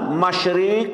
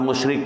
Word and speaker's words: masyrik: Huang Qila dialah Tuhan masyrik dan magrib Awas baca jangan salah dialah Tuhan masyrik dan magrib bukan Tuhan musyrik Jawa hati-hati bacanya dialah Tuhan masyrik dan magrib nah gitu ya tiada tuhan